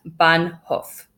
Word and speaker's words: Bahnhof: G ar e lagaa and in German it's bahnhof bah n H o F bun hoof literally it means train station